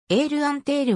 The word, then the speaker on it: エールアンテール: 存在した航空会社エールアンテールはフランス語での発音で英語ではエアインターとなる書籍によって